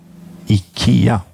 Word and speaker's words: IKEA: this is from Ikea this is Ikea correct pronunciation Ikea yes it's called what is it called class